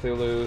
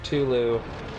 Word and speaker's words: Cthulhu: And there's a lot of argument about the name too cuz obviously some people pronounce it Cthulhu, some people pronounce it Culu.